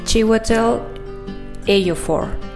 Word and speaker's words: Chiwetel Ejiofor: Y su nombre es un poco extraño, pero bueno, trataré de pronunciarlo bien. Y es Chiwetel Ejiofor.